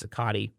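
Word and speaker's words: Cicotte: on baseball because and I know there are two pronunciations for his name uh Cott or cotti I've heard both I believe it is sakati Eddie cotti who pitched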